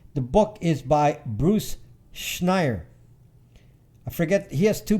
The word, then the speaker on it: Schneier: SCHNEIER, something like that. The book in cybersecurity, not Schneider, Schneier. Take off the last DE. He's not Schneider, it's Schneier. Schneider without the DE at the end.